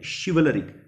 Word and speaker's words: chivalric: Sleek, then chivalric. CH is pronounced as share over here.